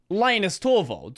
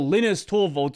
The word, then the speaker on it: Linus Torvalds: You're not seeing some fake personality, you're seeing Linus Torvalds, or Linus Torvalds, or however you want to say his name.